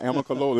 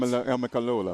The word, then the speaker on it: Amicalola: Now, we were talking about Amicalola. It sounds like it should have an extra vowel. It's hard to pronounce. Amicalola.